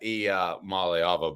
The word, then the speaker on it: Iamaleava: So I kept working on that, and finally I was able to get that Iamaleava.